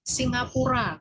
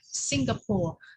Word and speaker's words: Singapura: Singapura, kebanyakan orang ngomongnya Singapore. Di Singapura, kamu kemana liburan? Singapura. Nah, it's actually wrong ya. If you say it in Indonesian, use Indonesian. Ya. Use well Indonesian. Ke Singapura.